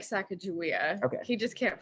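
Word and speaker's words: Sakakawea: So our very last lunch, we take at this like Lake Sakakawai, where you follow the shoreline to the end. So you're hugging the shoreline of the lake for a while. It's actually called Lake Sacagawea.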